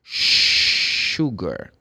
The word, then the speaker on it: sugar: The word sugar starts with the letter S, but they don't say sugar. It's a very common mistake. Okay, but it's sugar.